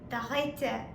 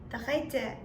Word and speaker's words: Dritte: Then, 3 in German or third in German will be pronounced as Dritte. Okay? Dritte.